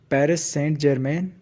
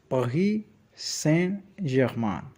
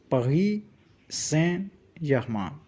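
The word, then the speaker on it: Paris Saint-Germain: You might hear the English way like Paris Saint Germain, but the French way is Paris Saint Germain. Say it with me. Paris Saint Germain. The S in Paris is silent. T in Saint is also silent.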